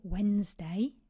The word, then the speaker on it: Wednesday: And it helps you remember the silent d and e. Wed nest day. We say Wednesday, but we spell it wedst day.